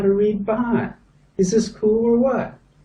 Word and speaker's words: baht: Baht. What kind of money do we use here? Baht. So you come over here, what is it? Baht. And the English? Baht.